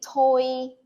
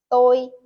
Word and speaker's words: tôi: Many people would say tôi, tôi tên là my name is, but the correct way to say it is tôi tên là my name is.